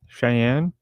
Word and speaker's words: Cheyenne: you for tell me tell me how to pronounce that Cheyenne Cheyenne there you go I I agree thank you